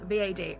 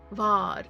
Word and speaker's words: Vad: The way it's spelled V A D. I was like, "Oh, it's Vad." No, it's Vard as in Vlad without the L.